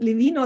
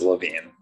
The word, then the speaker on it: Levine: let's do that first is it levino levine it is levine levine okay so i was right good thank you thank